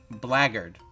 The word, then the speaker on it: blackguard: the k is silent the k is start oh black blackguard blaggered which sounds like there was a song laggard